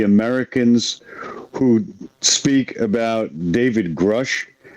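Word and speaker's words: Grusch: We always hear other people, pronouncing it. When he testified, he announced his name under oath, and he said Grush.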